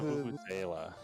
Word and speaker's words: vuvuzela: So the Vuvuz, how's it pronounced? The Vuvuzela.